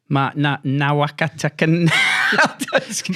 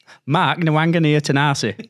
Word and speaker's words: Nawaqanitawase: Let's go again, Carl, on how you pronounce his name. Mark Nawaqanitawase.